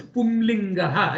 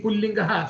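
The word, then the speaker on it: पुंलिङ्गः: I will, even though the right pronunciation is Pumlingaha, it's a little difficult, and I'm used to saying Pullingaha, so I say Pullingaha, but I am wrong there. Actually, it is Pumlingaha.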